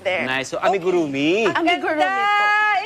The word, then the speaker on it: amigurumi: Tell us, first of all, tell us how to pronounce it. Kanina, I totally buckled. It's amigurumi.